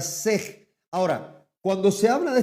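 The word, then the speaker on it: שה: Ojo, repito, la palabra hebrea que comúnmente se utiliza para cordero es la palabra sej s e h. Pronunciación para nosotros es la palabra sej.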